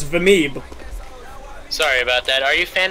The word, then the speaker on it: Vimeeb: Hello, Vimey? Hello. Hi, Vimey. Why is everyone saying my name wrong? What the fuck is wrong with you people? It's Vameeb.